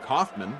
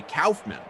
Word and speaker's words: Kaufman: like I you know I am Kaufman I know some people that say calman I I don't but some people do spelled the same way not not really the